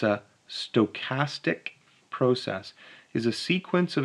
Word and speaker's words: stochastic: so a stochastic process this is how you pronounce this it's a stochastic process is a sequence of experiments that depend